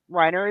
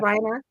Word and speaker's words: Rainer: starts out speaking German Reiner Riner is German yeah Riner sorry I suck at